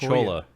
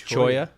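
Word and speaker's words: cholla: it in there holla everybody says Rolla it's actually its Choya yeah okay I'm told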